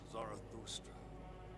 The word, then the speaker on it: Zarathustra: that planet is more than just our birthplace zarathustra the Blessed Saint's womb everyone's pronouncing zarus correctly too if I'm not mistaken